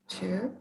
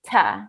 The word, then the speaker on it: to: Okay, the first one is to. To. And before a consonant, we say ta. Can you say that? Ta. Ta, ta, ta. Yes. Yeah, yeah. And before a vowel, we say to.